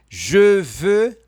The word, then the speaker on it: je veux: Jefã, je veux manger, eu quero comer. Então, ó, je veux, eu quero dois biquinhos.